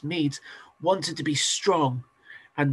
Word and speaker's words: Medes: mes and it's spelled medes but it's actually pronounced mes wanted to be strong and the mides built